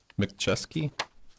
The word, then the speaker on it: McChesney: can you say your name again please mcchesky yes I can spell it for you if you'd like MC capital